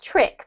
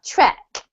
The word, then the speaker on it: trek: Okay, this one is not trick, but trek. Trek.